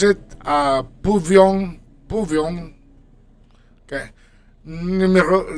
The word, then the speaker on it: pouvions: And then for for nous, you pronounce it pouvions, pouvions.